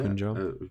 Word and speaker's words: Punjab: Yeah, Punjab.